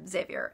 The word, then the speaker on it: Xavier: I pronounce Xavier and I pronounce Savior Xavier xav ier I don't know if that's right but that's how I learned to pronounce it sorry I'm scrolling through